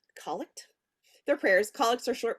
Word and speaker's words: collect: a collect for evening it's spelled like collect but it's collect they're prayers collects are